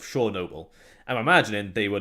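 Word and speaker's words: Chornobyl: no so the actual the name shaw noble is how it was originally pronounced in ukraine which is what they changed the name to so instead of heart of chernobyl it's supposed to be pronounced heart of shore noble i'm imagining they were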